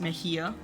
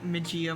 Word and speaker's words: Medjia: this is medjia yes i know this name is most most of the time pronounced mejia but i like the pronunciation majia more and it's my books